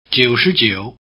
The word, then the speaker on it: 九十九: 九十九. Did you get the low tones correct on 九?